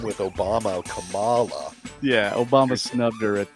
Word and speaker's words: Kamala: Because she got snubbed by rhyme with Obama, Kamala.